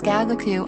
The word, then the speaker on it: gagaku: the character gagaku means giant you but is pronounced as gagaku in japan the banquet music yenyu was transferred